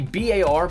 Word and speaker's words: BAR: game we're still missing the VAR Browning automatic rifle or the bar whatever you wanna pronounce it as the M 1928 Thompson